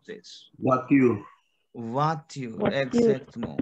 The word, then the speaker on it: voiture: Voiture. Voiture, exactly. Why voiture? Because OI sound is wa in French. Wow. We have, yes, and we have E sound is a. Voiture. Voiture. Exactly. Voiture. So voiture is your car, your car, auto, car.